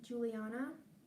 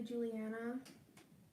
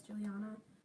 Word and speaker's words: Juliana: My name is pronounced Juliana. A lot of people say Juliana. Doesn't really matter, I guess, but it's Juliana.